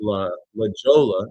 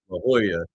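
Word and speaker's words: La Jolla: Dude called up just as like right after I I called it leola. Now I know it's Hoya that he called up to be like, "Oh, uh, you can't pronounce regular things because you don't have education."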